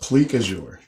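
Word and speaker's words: plique-à-jour: pleak azure in this i may be pronouncing that wrong it could be pique a jours i can hear the french people already very upset about that i can't say i played me on that one so i think it's pronounced plique azure i got some pretty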